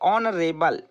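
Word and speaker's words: honourable: और इसको आपको पढ़ना भी अच्छे से है, क्योंकि यहाँ एच जो है वो साइलेंट है। यहाँ पढ़ेंगे आप ऑनरेबल, ठीक है, सम्माननीय अतिथि, ऑनरेबल गेस्ट।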